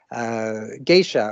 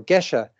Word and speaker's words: Gesha: were starting to use geisha or gesha and depending on how you pronounce it so that was an